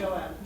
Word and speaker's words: Joab: Home doesn't only mean the marital home in which you create Marcia and Joab. Is that how you pronounce his name? Joab. Joab. Yeah.